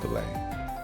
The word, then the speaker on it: fillet: A fillet steak. I know it's pronounced filet.